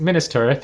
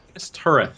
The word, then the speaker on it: Minas Tirith: You're gonna have to help me out with the pronunciation on this, Tyler. I think it's Wow. Minas Tirith. Is that right? Minas Tirith, yeah. Minas Tirith.